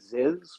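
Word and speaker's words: Zyzz: He's an Australian, so you're really close because his name was Aziz, but he pronounced it Ziz, which was kind of his bodybuilding alter ego.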